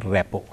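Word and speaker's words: rapport: वापर तो रेपो formation spelling मात्र त्याचा है आर ए पी पी ओ आर टी उच्चार मात्र करायचा रेपो म तिथे तुम्ही आणि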